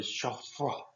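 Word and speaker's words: chaud-froid: Sauce chafroy. Okay, so that's how I always said it. In the French, it's really chafroy. Chafroy. So the D is kind of silent in there.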